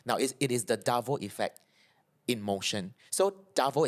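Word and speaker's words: DARVO: you know about the davo effect I've heard about it but tell us more right so davo is spelled it's an acronym it's spelled D a r v o and I find this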